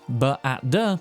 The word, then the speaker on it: B@d: Indeed, whilst Regina simply reads it as Bad, it could also be pronounced B-at-d or B-at-d, an instruction telling us to be at D wherever D is Dogtown?